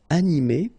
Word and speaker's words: animé: So in that case, you will just add this final okay? But then the thing is that you don't pronounce it. So phonetically, you will get exactly the same form. So masculine form, animé, and then the feminine form, animé.